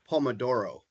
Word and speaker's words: Pomodoro: Kyle, you're the pronunciation expert. The Pomodoro, is that how you say that? I would say Pomodoro.